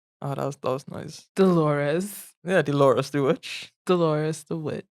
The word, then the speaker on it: Dolores: which dolores um oh that's that was nice dolores yeah do laura stewart glorious the witch the the lore was the right pronunciation of that name dolores and uh frederick